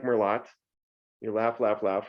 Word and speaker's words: merlot: more lot i like merlot you laugh laugh laugh right uh it's not pronounced more lot we know that it's pronounced merlot but we say that french word very easily merlot not merlot but if